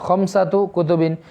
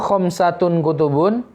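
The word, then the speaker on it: خمسة كتب: karena ini harus disandarkan khamsatu kutubin bukan khamsatun kutubun tapi khamsatu kutubin ya Indi khamsatu kutubin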